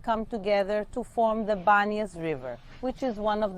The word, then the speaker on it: Banias: I told you that the city is called Banas nowadays with a B why because centuries and centuries later with the Arab Invasion the Arabs couldn't pronounce panas because in the Arabic alphabet they don't have the letter P and that's why panas became Banas but this city had